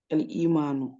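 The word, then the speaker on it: الإيمان: Et si la hamza elle est en bas, on dit L-I.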